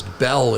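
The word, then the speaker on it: Beall: spell it huh look my last name is Belle and people ask me to spell it it could be b-e-l-l-e yeah but yeah it could be b-e-a-l wait how do you spell it what's Belle with bells b-e-a-l-l see yeah yeah which is the Irish it's the Gaelic spelling of Belle you guys I'm being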